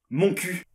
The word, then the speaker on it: Montcuq: plus bizarre de france mon cul c'est un petit village dans le lot ah oui mais alors ça se prononce montcuq le cul et sonneurs